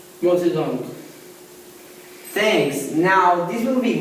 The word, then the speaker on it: Mao Zedong: But it's pronounced Mao Zedong.